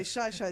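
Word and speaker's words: Xai-Xai: By the way Shya is spelled with an X. It's X Xi.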